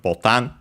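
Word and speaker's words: ボタン: Then we have Botan.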